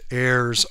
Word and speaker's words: Ares: out in California with Heirs Armory. I hope I'm pronouncing that right. It's heirs. A R E S Armory.